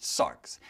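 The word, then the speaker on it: σάρξ: flesh is the word uh sark so it's pronounced sarx and and like many of our english words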